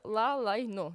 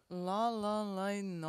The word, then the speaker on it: Ла-ла-лайно: А зараз хочу, щоб на плазмі показали афішу вистави «Ла Лайно». Вірно я вимовляю? «Ла-ла-лайно». «Ла-ла-лайно» – це під «Ла-ла-ленд».